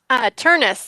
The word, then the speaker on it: Turnus: Is it Turns or Turnus? Turnus, like rhymes with furnace.